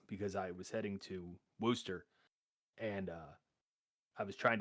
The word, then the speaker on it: Worcester: So back in 2016 um I was in Boston and I took a train over to uh Worster. It is not pronounced Warchester as I was angrily told.